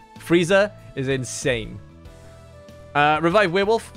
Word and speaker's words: Frieza: and kick some ass but it's really good freesia freesia freezer I keep saying it wrong freezer is insane uh revive werewolf thank you for